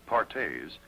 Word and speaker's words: Perthes: family another crippling disease known as perthes pronounced partes was the demoralizing ailment